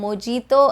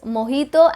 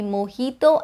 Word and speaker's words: mojito: way it looks like mojito and jalapeno but that would be incorrect it's mojito and jalapeno the j is pronounced as an h sound in the spanish language so it would be mojito and jalapeno kind of